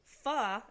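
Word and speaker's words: Phở: controversy over the name is already garnering attention Fah is a Vietnamese noodle dish pronounced exactly like I just said [ __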